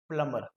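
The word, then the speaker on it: plumber: हम लोग इसको प्लम्बर बोलते हैं, बट the correct pronunciation is प्लम्बर। अब इसमें भी ऐसा नहीं है कि प्लम्बर गलत है, प्लम्बर इंडियन इंग्लिश में बोला जाता है, लेकिन हम लोग जो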